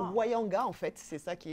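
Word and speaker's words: Ounianga: Ça se prononce Wayanga, en fait.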